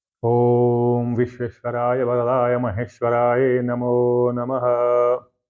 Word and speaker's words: ओम: तो मैं बता दूं कि पहले आता है ओम। ओम कहते हैं ना, तो अगर अकेले बोलना है, जैसे सिर्फ ओम ओम ओम ओम, तो ओ और म का उच्चारण होगा, अगर अकेले बोलते हैं तब।